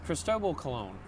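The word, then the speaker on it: Cristóbal Colón: Yes, we don't even say his name right. It's Cristobal Colon, for Christ's sakes.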